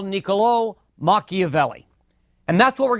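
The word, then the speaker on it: Niccolò: first name is mispronounced you've got an accent on the last o and that means it's Nicolo rather than Nicolo so Nicolo makavelli is going to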